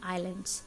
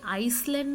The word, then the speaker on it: island: let's talk about the आईलैंड अच्छा यह आइसलैंड नहीं है दूसरा आयरलैंड apps silent silence subscribe करें इस द